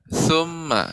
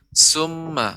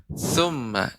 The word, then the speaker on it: ثم: Ya, pengucapan tha Ibu, thu ya, tha, thumma ya, jangan sampai menjadi huruf sin, summa bukan, akan tapi thumma, tha, lidah, ujung lidah dengan gigi seri atas.